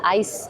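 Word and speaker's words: IJs: cream shops they're called ice salon and it's spelled I JS that's pronounced ice and then salon so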